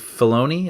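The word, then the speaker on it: Filoni: And he was saying not even just in that, but apparently he has spoken to Dave Fona.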